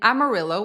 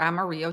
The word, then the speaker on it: Amarillo: But it's 2,460 miles if you make a turn in Amarillo or Amarillo, Texas, depending on how you pronounce it, and take the 20.